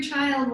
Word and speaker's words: Qi: That's QI, pronounced Chi. Chi is life force energy.